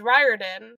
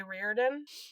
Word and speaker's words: Riordan: And from what I've heard, Rick also pronounces his own last name wrong. Because he says Riordan, but like anyone else with that last name would say Riordan.